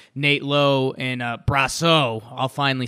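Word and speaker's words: Brosseau: they called up guys like Nate Lo and brass oh I'll finally say it right and in the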